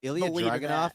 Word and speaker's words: Ilya Dragunov: Ilya Dragunov? Yeah. That's literally how you do it. Ilya Dragunov. That's literally how you pronounce it in Russian, bro.